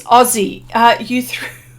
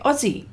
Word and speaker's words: Aussie: But that's how we say it, Aussie. I know you spell it double S, but we pronounce it Z.